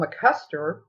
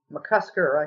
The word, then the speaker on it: McCusker: uh the actual chapter on joy um paul mccuster mccusker i think i mispronounced his name first time did the one